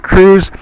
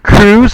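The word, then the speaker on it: Kruse: Jack Cruz. However, Cruz is spelled K R U S E.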